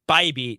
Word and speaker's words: Bybee: Which is how Dan and I discovered that it's Bybee, not like Bibby or whatever. We were trying to figure it out, and we didn't know, and there's no pronunciation guide, but we saw that his thing was Issa-Vibe, and so we're like, well, if he's doing that, it's got to be Bybee.